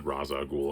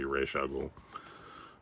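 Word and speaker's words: Ra's al Ghul: origin of raza ghoul or reisha ghoul however you choose to pronounce it i've always said raza ghoul i think it's technically supposed to be reshuggle batman number 21 i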